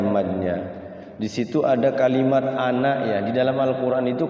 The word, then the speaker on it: أنا: Di situ ada kalimat ana ya. Di dalam Al-Qur'an itu kalau ada kalimat ana, itu bacanya ananya jangan dibaca panjang tapi pendek.